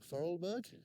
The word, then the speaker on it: Vorarlberg: We're in Austria, we're in Vorarlberg, that's how you pronounce it, and we are actually staying up here for the evening in a little hut around the corner.